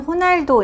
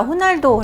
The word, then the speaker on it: Ronaldo: 타임지 인물은 요 유명한 축구선수 쩍 퀘스트 않은 호날도 인데 이제 보통 영어 스펠링 으로 봤을 때 널 로 시작해 보이기 때문에 먼 하우 떠오라고 얘기를 하기도 하는데요 이제는 뭐 다 후 날도 라고 알고 있기 때문에 그렇게 발음을 하는 것이